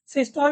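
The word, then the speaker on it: systole: सबसे पहले सिस्टोले होता है एंड डिस्टोले होता है। सिस्टोल डिस्टोल भी बोल सकते हो, पर असल प्रोनाउंसिएशन क्या होता है? सिस्टोले है, डिस्टोले।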